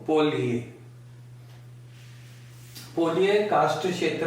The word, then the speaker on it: polje: सकते हैं, ये देखिए, ये ऐसे लिखा जाता है POLJE, लेकिन ये जो आपकी लैटिन भाषाएं हैं, जैसे स्पेनिश है, पोर्चुगीज है, फ्रेंच है, इनमें ज को य प्रोनाउंस करते हैं। तो पोलिए, पोलिए कास्ट क्षेत्र में